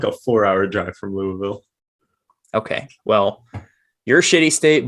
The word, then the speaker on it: Louisville: I think you were like Louisville.